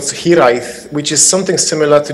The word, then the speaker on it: Hiraeth: Yes, so, yeah, that's Welsh, fantastic. A little bit. Hiraeth. Did I say it right? Hiraeth. Yes, you did.